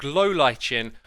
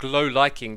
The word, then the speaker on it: lichen: This is known as the Lichen or the Liking, depending on how you want to pronounce it.